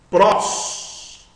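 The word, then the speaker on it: πρός: Pros. Pros. Uma sílaba só tem uma vogal, não esqueça disso. Só tem uma vogal, uma única sílaba, sílaba aberta, O. Então você lê pros.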